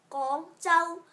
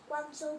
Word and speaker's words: Guangzhou: Guangzhou, Guangzhou. You say gong like so. Go like go.